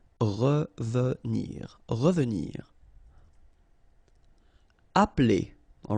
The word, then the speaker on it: appeler: Appeler, all right? So the funny thing here is that you don't really insist on this E, okay?